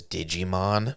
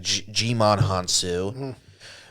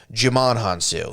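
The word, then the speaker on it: Djimon Hounsou: another cameo it's uh i always like to pronounce his name as digimon it's not his name it's it's like jimon hansu jamon hansu he's awesome he was almost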